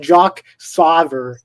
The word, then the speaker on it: Jack Sawyer: It's pronounced Jock Sauver. The W is pronounced as a V.